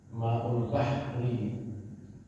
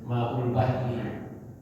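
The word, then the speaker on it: ماء البحر: kemudian Maul bahr ya Maul Bahri bahr ya jadi orang Arab membacanya Maul bahr jadi Bah hanya mati rohnya dimatikan tapi kalau kita sebut Maul Bahri Nah itu enggak apa-apa biasa kita menyebut Siapa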